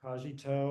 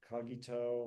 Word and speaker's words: cogito: say so this is often known as the kajito or kagito or there's many different ways of pronouncing loud.